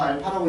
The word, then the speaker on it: 알파: 자, 보시면 x제곱 - 5x + 1은 자, 0의 한 근을 자, 거기 나오는 문자가 a가 아니야. 이거 알파라고 읽어. 알겠지? 드디어 알파라는 걸 외운 거야. 알파야. A 아니야.